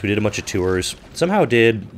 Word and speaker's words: Tours: there's a place called tour t-o-u-r-s it's spelled like tours but you don't pronounce the s in France I don't know why